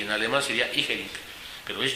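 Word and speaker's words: Jhering: Estoy pronunciado con J, Jering. Si la pronunciara yo con I, y en alemán sería Igering, pero es Jering con J.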